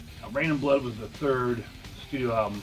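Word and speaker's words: Reign in Blood: And they have an album called Rain in Blood, and it's spelled R-E-I-G-N. Unlike this can, which is R-A-I-N. Now, Rain in Blood was the third studio album from Slayer.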